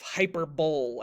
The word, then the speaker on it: hyperbole: His name is Brian Regan, and the comedy album that one was called Epitome of Hyperbole, and he purposely mispronounced it.